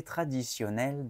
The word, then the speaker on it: traditionnel: Próximo, traditionnel. Traditionnel. Aquí la T y la I en la parte del medio de la palabra no se dice traditionnel, se dice sionel. Se pronuncia como una S.